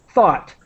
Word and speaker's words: thought: the I'm trying to the pronunciation is like the word hot but with th thought thought thought so that's think to